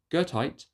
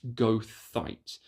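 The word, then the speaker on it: goethite: There's gertite, which is similar but has a softer g. And some folks like myself on occasion because even I go back and forth on the pronunciation on this one is goight.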